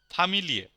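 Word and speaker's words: Familie: hidden কোন tricks নেই সবকিছু নরমাল যা আছে সব উচ্চারণ হবে যেমন ফামিলিয়ে আমরা একটা শব্দ দেখি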